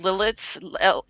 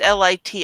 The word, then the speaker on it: Lititz: It's a town called Lilitz. Lit. I can't pronounce it. It's Lititz.